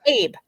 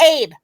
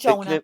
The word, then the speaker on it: Abe: I'll say his name right. It's Abe. It's Abe. It ain't Jonah.